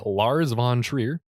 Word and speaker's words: Lars von Trier: this is directed by lars von trier is that at all the correct way to say yeah that is the correct way to say it did it folks no